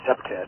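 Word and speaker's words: CPTED: Prevention Through Environmental Design, which the acronym for is CEPTED. That's how we pronounce it.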